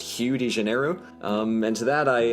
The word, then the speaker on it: Rio de Janeiro: make very little sense apparently rio de janeiro is supposed to be pronounced hugh digenero um and to that